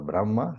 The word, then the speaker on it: Brahma: Like you write Brahma. Then you you write the ha and then you write the ma. But in pronunciation you put the m first. So, Brahma.